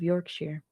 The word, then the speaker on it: Yorkshire: When I was a kid, I grew up in the East Riding of Yorkshire. That's pronounced "sure". Not "shire".